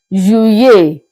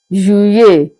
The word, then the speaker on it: Juillet: July in French is pronounced as Juillet, Juillet. So the tactic here is that you pronounce the two letter L as if we are pronouncing just one letter Y.